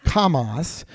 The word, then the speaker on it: Hamas: know Hamas H m- or it sometimes pronounced Kamas that this is a